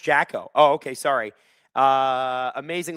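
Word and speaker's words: Džeko: Because of Dzeko's name Oh, it's pronounced Jacko.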